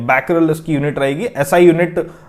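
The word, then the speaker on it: Becquerel: जो SI unit है वो होती है बैकल ठीक है बी ई स्पेलिंग रहेगी इसकी बीई सी q यूई आर इ ठीक है बैकल इसकी यूनिट रहेगी एसआई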